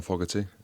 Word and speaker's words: Fogarty: John Fogarty.